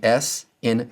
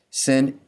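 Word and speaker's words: שׂ: Sin is another of the s sounds in Hebrew and it sounds like the s in sin.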